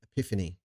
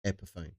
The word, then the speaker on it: Epiphone: and they're a douchebag same as anyone who pronounces epone as Epiphany epone not Epiphany you need to have an epiphany that it's pronounced Epiphone don't get me started ironically Fender f n